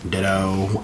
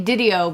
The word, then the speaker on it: DiDio: The co-publisher of DC, Dan Ditto, however you pronounce his last name. I say Didio because it's fun to say.